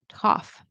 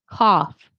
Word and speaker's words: cough: The gh, it's actually going to be pronounced as an F sound. Remember, F, your lip, your your teeth up here are going to be on your bottom lip or touching it.